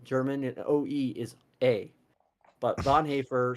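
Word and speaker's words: Bonhoeffer: Lutheran Pastor Dietrich Bon haer and it is Bon haer I'm sorry for people who don't know how to pronounce German and German names I know it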